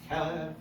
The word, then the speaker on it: kelev: Yeah, kelev, right? So you have the accent on the kev.